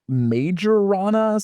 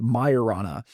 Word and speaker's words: Majorana: if you read it it's spelled like majorana so it's like m a j o r a n a like majorana but I guess it's pronounced Mayana um and it's named